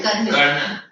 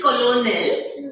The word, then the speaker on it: Colonel: Colonel Colonel. You have Colonel, no? The Colonel. spelling is Colonel, but the pronunciation is Colonel.